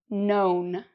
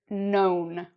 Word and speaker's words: known: And then we can add the "n": "known". And, again, the "k" is silent. So, we have: "know", "knew", and "known".